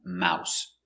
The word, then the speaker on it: mouse: One mouse. Ow, mow, s, mouse. One mouse. Two, three, four, five.